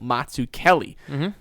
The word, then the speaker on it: Mazzuchelli: Not Mazzuchelli, I want to pronounce it really badly. It makes me kind of hungry whenever I say his name, but it's Samuel Mazzuchelli.